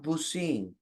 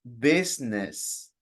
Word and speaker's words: business: the most important word it's not busing it's business repeat please Lis business yes